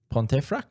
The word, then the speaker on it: Pontefract: Pontifract.